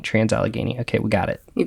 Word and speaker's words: Allegheny: of names Alicia did look up how to pronounce it so aligene is what we're going with trans alagan trans alagan trans alagan okay we got it you got it all